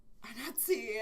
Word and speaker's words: Anansi: I kept saying Anansi, it's Anansi, and I'm like, oops!